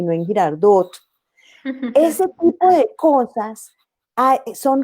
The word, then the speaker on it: Girardot: C casi no decimos, esa T que nos comemos los bogotanos al final de las palabras, como en Girardot, nosotros veraneamos en Girardot y no en Girardot.